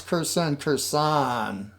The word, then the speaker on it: Kherson: I talked to my friend Arcady, and he told me that you pronounce Kherson, like two A's. I always said Kherson for years.